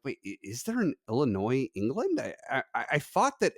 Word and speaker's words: Illinois: it up and yeah the name Illinois does it's comes through French which is how you end up with like a silent s on theend but um yeah